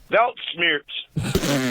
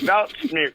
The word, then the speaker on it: Weltschmerz: Belt smears. Yeah, belt smears.